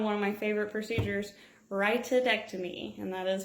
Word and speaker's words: rhytidectomy: okay I'm 751 one of my favorite procedures rhytidectomy and that pronounced right rhytidectomy so next to this one you can go